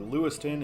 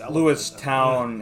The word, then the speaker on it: Lewistown: We're getting 99 for Lewiston and Bellefonte. What? What is that? Lewiston and Bellefonte. Lewiston, I think, is 322. Pronounced Lewistown and Bellefonte.